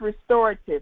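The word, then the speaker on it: Rxestorative: your hair so it's restorative the x is silent we have to i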